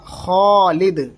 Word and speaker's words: خالد: ہیں ہم خالد، تو ایک تو ہوتا ہے خالد، خالد نہیں، یہ غلط ہو جائے گا، اصل تلفظ ہوگا خالد۔ کیا؟